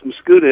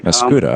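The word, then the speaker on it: Mascoutah: Oh, no, it's Mascouda, Illinois. Mascouda.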